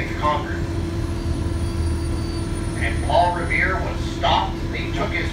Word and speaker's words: Revere: midnight ride of Paul Revere Revere rhymes with hair the Prescott don't well mr.